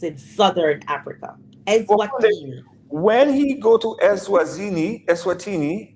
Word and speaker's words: Eswatini: They sent him to a country we can't even pronounce. Exactly. Name is Eswatini.